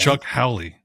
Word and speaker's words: Chuck Howley: It was Chuck Howley of the Cowboys. He won the Super Bowl MVP in Charles as a Haley. losing Fuck team. Charles Haley. No, it's not Charles Haley. Chuck Howley.